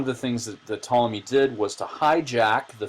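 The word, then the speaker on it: Ptolemy: you can see here that's spelled with a p PT o l m y was that's how that's tmy he was one of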